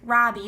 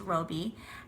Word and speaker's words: Robie: H Harris a lot of people think it's Robbie but it's actually a woman and it's pronounced Roby and the illustrations are by Chris rashka this